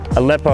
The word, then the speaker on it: Aleppo: I'm trying to figure out how to pronounce this. Aleppo, I'm pretty sure it is.